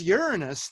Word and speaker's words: Uranus: and pulled by big bully Jupiter then there's Uranus the seventh planet from the Sun and that is the correct pronunciation for anyone above the age of seven